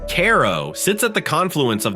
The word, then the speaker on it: Cairo: Cairo, pronounced Caro, sits at the confluence of the Mississippi and Ohio rivers.